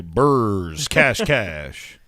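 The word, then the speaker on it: BRS Kash: one okay i'm sorry how do you say that you say burrs cash cash yeah how do you how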